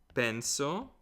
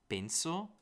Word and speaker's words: penso: It could be penso, penso, you know the way they pronounce it, or penso, penso. I think I pronounce it more like that. But you'll hear some people that go penso. Penso che lui parli l'italiano. That feels a little more northern to me, I'd say.